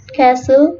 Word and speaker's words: castle: Letter T is almost silent in words with FTEN, STEN, and STLE, as in often, soften, listen, glisten, castle, and whistle.